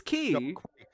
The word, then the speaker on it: quay: knots key sounds better it's key no Quay sounds better they should be called quays I know but I